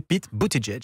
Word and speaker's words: Buttigieg: Comment vous le prononcez? Pete Buttigieg. Vous êtes sûr? Oui, sûr et certain. On ne dit pas 2 fois Edge? Non, parce que moi je regarde les late shows américains et j'ai vu les humoristes prononcer Pete Buttigieg.